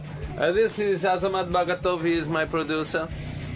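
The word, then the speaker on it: Azamat Bagatov: This is Azamad Bagato. He is my producer. Hey, how are you? How do you say his name? Yeah. Azamad Batov.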